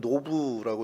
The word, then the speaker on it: 놉: 오늘 저희가 살펴볼 성경의 장소 도움은 놉이라는 곳입니다. 히브리어는 노브라고 이렇게 발음을 하기도 하는데요.